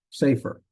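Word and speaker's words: סֵפֶר: about that later um but the segets are words that normally Accent on the first syllable so this be not safer it's safer safer okay two ways to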